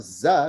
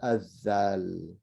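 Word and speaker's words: ذال: saying uh that and it's not za which is a z right it's it's a azal very good so let's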